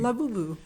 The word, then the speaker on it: Labubu: How you think he pronounced that? L probably probably Laboo. Emphasis on the middle syllable, you think? Labubu. Anyway, some artist created it's a stuffed animal.